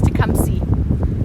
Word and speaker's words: Tecumseh: It is Tecumseh. Okay, thank you. Tecumseh, guys. It's Tecumseh. Maple, you're right. It's Tecumseh, like to come see someone.